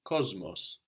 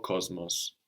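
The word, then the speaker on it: κόσμος: The word for world, like in cosmopolitan, is cosmos. This is spelled with an S in Greek, but we hear a Z before that M. Cosmos, the world, or cosmos.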